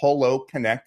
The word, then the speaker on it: HoloConnect: product, a tool called HoloConnect, H-O-L-O, like hologram, HoloConnect AI, and it's a breakthrough platform that combines holography.